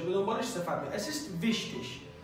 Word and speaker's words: wichtig: assist wichtig، wichtig دوستان این گ به صورت ش تلفظ میشه در پایان.